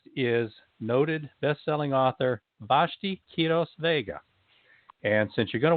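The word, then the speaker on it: Quiroz-Vega: longer today's guest is noted best-selling author vashti kiros vega and since you're going to want to go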